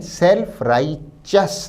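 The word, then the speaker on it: self-righteous: चाहे तो नोट करें सेल्फ राइच अस शब्द के प्रोनंसिएशन या उच्चारण पर भी ध्यान दें सेल्फ राइ चस ना कि टस सेल्फ राइ सट मोनिस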